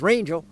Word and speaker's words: Rangel: pronounced so she and the last name is rangel rhyming with angel and really that's been